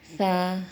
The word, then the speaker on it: ثا: لہجے میں ادا کریں، اردو تلفظ سے پرہیز کریں، یعنی بے، تے، سے، ہے، خے، توئے، زوئے وغیرہ یہ ہرگز نہ پڑھیں کیونکہ یہ اردو لہجہ ہے۔ عربی لہجہ با، تا، ثا، ہا، خا، تو، زو یہ ہے، اس